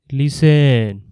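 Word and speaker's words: listen: যেমন লিসেন এর টিও উচ্চারণ করা হয় না। লিসেনের বানান এল আই এস টি ই এন। কিন্তু আমরা উচ্চারণ করি লিসেন।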